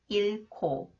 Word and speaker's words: 잃고: 못 만났어 더 consonant K comes after the final consonant h it combines with real here to be pronounced AS sound 일코 일코 그는 직장을 잃고 슬퍼해요